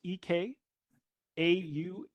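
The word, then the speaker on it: Ekahau: Spell that. Echo. That's it's ek au sorry e k a h au.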